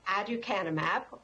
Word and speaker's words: aducanumab: So the pronunciation, aducanumab, and the brand name is Aduhelm.